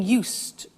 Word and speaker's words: used: speaking Italian every day listen to the pronunciation I said used with t sound used not use it or you said used that's very important to distinguish it from the other verb use okay used the next